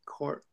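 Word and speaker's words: corps: How do you say that with the s at the end? Core. Core. Core. You don't say S. No, the P and S are both silent.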